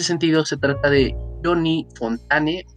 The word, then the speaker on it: Fontane: se trata de johnny fontane fontán se la pronunciación pero pues que es